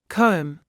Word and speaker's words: comb: in phone photo autograph be is silent at the end of a few words listen and repeat climb comb thumb lamb as an